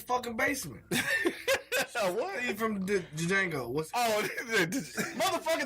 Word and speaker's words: Django: Steve from Django. Motherfucker, the D is silent.